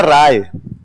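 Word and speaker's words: Ray: ये वास्तव में होता है राय। क्या होता है? स्पेलिंग क्या हो गई? उन्होंने बोलना शुरू कर दिया। अरे क्या बोलना शुरू कर दिया? या कई जगह तो इसको बना गए तो सत्यजीत रोए सत्यजीत रे जबकि वास्तव में होना क्या चाहिए बंगाल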